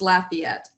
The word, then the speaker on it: Lafayette: not careful it's pronounced Lafayette so you kind of emphasize the laugh the laugh part of